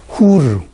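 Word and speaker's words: חור: 그렇기 때문에 처음에 훌이라면은 이렇게 되면 훌 이렇게 발음합니다. 그런데 이렇게 R을 쓰게 되면은 훌이라고 발음하는 게 아니라 후르 이렇게 발음하는 것이 더 정확하다. 그것은 상식입니다. 그런데 두 번째 훌과 지금 세 번째 말하고자 하는 이 훌이 같은 다 후르 이렇게 발음을 하는 것이 더 정확하다. 히브리어로는 그렇습니다. 후르 이렇게 표기가 됩니다.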